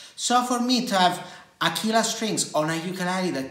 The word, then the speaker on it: Aquila: It says, Aquila strings, or shall I say Aquila, but it is an Italian brand and it is pronounced Aquila, which means eagle, by the way.